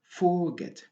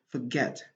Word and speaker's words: forget: C'est pas la première syllabe. On n'est pas autorisé de dire forget. Non, non, non, non. Donc, on doit dire forget. Donc, la syllabe accentuée ici, c'est la deuxième syllabe.